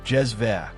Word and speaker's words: cezve: A small, long-handled pot called a cezve, pronounced "jez-veh", became the instrument of choice across the Middle East and North Africa.